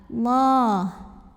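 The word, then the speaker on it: الله: Lam pada lafaz Allah atau lam jalalah dibunyikan secara tafkhim karena huruf sebelumnya yang lam barisnya fathah, maka dibacanya tebal. Allah.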